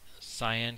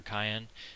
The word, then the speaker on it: cyan: If we type lslah, we see file 3.log is this cyan color right here, or cayenne, however you want to pronounce that, and it starts with an L for link.